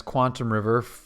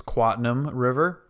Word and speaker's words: Quatam River: Welcome back to Quatam River, which I was mispronouncing as Quantum River for a long time, but it is Quatam River.